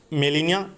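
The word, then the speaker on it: Gmelina: है लटन नेम इसका मिलेनिया arbo जी silent है मिलेनिया आर्बो कहते हैं लेकिन जी मिलेनिया आर्बो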